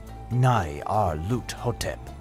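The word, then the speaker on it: Nyarlathotep: on the side mean the director of the museum pronounced it as nah our loot hotep hieroglyphs are alien to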